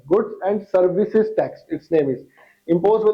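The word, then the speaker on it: Goods and Services Tax: गुड्स एंड सर्विसेज दोनों में ऐसे है, बहुत सारे बंदे इसको गलत प्रोनाउंसिएशन करते हैं, गुड्स एंड सर्विस टैक्स pronounce करते हैं, गलत है, गुड्स एंड सर्विसेज टैक्स, it's name is imposed by the union or by such state.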